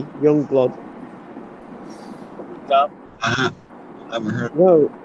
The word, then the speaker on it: Yungblud: It's spelled YUNGBLUD, Youngblood.